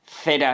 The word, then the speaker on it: cera: Obviously you will be seeing that "cera" is pronounced with the θ sound and "coche" with the K sound.